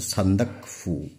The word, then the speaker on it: সান্দাকফু: তো এটা তোমরা সকলেই জানো, আমরা সকলেই জানি, এটা হচ্ছে সান্দাকফু। অনেকে কি উচ্চারণ করে সান্দাকফু, তো সান্দাকফু নয়, এটা সান্দাক শব্দটা অন্য। ঠিক আছে, সান্দাক শব্দটা অন্য, সান্দাকফু, এটার উচ্চারণটা এভাবে হবে, সান্দাকফু।